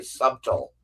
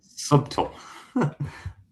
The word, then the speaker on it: subtle: Oh, he is also the gentleman who used to say subtle instead of subtle. Really? I'm like, dude, the B is silent, Matt. Like, subtle.